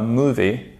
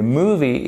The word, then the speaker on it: movie: un petit accent tonique et méfiez-vous parce que la première voyelle, c'est un « est ». OK? It is not a movie, pas movie, mais movie.